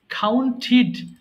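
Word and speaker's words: counted: না আচ্ছা আমি বলছি কাউন্ট গণনা করা কাউন্ট কাউন্টিড কাউন্টিড ওকে আমি আবারো বলছি যখন আমরা যদি টি ডি পাই অবশ্যই ঠিড উচ্চারণ করবেন হ্যাঁ তাহলে সহজ মানে সঠিক উচ্চারণ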